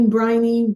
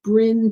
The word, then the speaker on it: Brynne: darn easy right but I get Bri Briney how do you pronounce your name and it's Brinn so I learned from